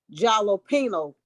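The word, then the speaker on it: jalapeño: dry what am I I rhyme with the word casino that will be jalopino and a jalapeno is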